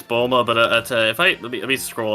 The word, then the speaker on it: Bulma: Yeah, it says, but it's Bulma, but if let me scroll up to try to see the Japanese pronunciation. Apparently in Japanese it was Buruma, literally bloom, so that makes slightly more sense.